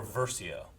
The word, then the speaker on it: Versio: I think it's pronounced Iden. Verso or Versio?